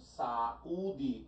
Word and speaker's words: saúde: Eu separo, ó, saúde, U está sozinho, está sozinho. Nem está seguido de S, mas não precisaria estar. É a sílaba mais forte, é a sílaba tônica? Sim. Qual é a regra que justifica o acento de saúde? É a regra dos hiatos.